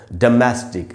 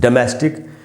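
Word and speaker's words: domestic: Dough का sound नहीं है। ओ का साउंड नहीं है। अ का साउंड है। ड डोमेस्टिक ऐसे पढ़ेंगे।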